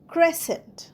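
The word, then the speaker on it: crescent: আরই এস সি এনটি ক্রেসেন্ট ক্রেসেন্টেও দেখো সিটা উচ্চারণ হচ্ছে না।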